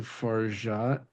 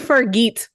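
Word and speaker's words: Fargeat: close yeah we'll take there's no pronunciation on the T but otherwise you the Golden Globes gave her a hard G yeah uh yeah and that is totally incorrect it was horrifying far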